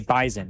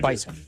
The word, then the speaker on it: Bison: The Bison, you got to make sure you pronounce it correctly too, because they're very particular. It's got to be Bison, not Bison.